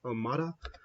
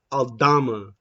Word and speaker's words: Aldama: I feel like for that Kyle Anderson, is it Almada? Not Almada. Pronouncing his name wrong. I feel like I think it's Concha. No, not Concha. Yeah, Aldama. Santi Aldama.